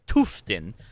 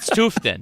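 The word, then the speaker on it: Tufteln: Big fan of it's Tuftin, but it's spelled like Tuftalin.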